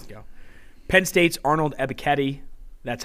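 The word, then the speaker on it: Ebiketie: go you have to go penn state's arnold ebiketti that's how you pronounce it i asked him himself he's a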